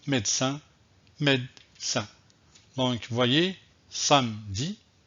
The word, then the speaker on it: samedi: comme ceux ci et vous voyez bien que je ne prononce pas le e vous le voyez donc